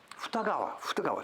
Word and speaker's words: Futagawa: This is Futsukawa. How do they pronounce it? Futsukawa, Futsukawa. Futagawa. Two rivers.